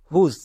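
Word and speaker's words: whose: আশা করি বুঝতে পারছো যেমন হুজ এখানে দেখো ডব্লিউ এইচ আছে ডব্লিউ এইচ এর পরে কি আছে ও আছে তার মানে কি ডব্লিউ এইচ সাইলেন্ট না এখানে শুধু ডব্লিউ সাইলেন্ট আমরা নিয়মে দেখব ডব্লিউ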